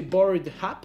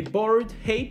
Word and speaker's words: Bored Apes: Je pense que c'est Bored Hap. Est-ce que ce serait Bored Happy? Happy? Comment ça se prononce? Ouais, j'adore quand vous faites à la française, vous écrivez Happy. Les Bored Apes, c'est ça, on est bon?